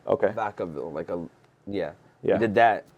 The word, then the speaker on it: Vacaville: Then we had a special show in, I'm going to butcher the name. I think it's Vacaville. Okay. Vacaville, yeah.